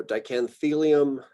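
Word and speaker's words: Dichanthelium: very strongly about this, pronouncing the third to last syllable. I've got a group down here at the bottom that are the third to last, otherwise known as the antepenultimate syllable. It's sort of like when you can pronounce that as the emphasized syllable.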